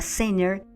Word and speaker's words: center: Cuando yo te digo que te están hablando una palabra con la palabra sinner, cuando se escribe, se escribe c e n t e r, pero realmente cuando se pronuncia esa t no suena.